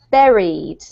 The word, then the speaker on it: buried: all but it's actually buried Buried buried y so the word buried actually rhymes with the word very and most of you